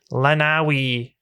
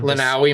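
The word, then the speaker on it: Lenawee: Uh the specific curve is located in Lawi County, the Irish Hills region of Lenawi, Mr.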